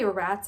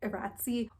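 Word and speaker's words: iratze: lost some blood, but Will's giving him an Eratzi, which is like the healing rune. If you hear me say Erats instead of Eratzi, or you heard me say phosphor instead of phosphor, no you didn't.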